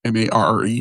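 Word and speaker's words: Marre: Mar, M-A-R-R-E.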